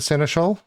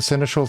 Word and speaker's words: seneschal: Now, inviting the seneschal, that I need to do by mandate, and I have actually checked that is the correct pronunciation for it. So this is the one. Invite the seneschal to stay in your city.